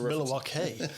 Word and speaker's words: Milwaukee: It's pronounced Milwaukee.